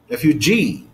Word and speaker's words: refugee: word like refu refu refugee refugee refugee refugee refugee ah the stress is on this syllable is on this syllable the last syllable it falls on the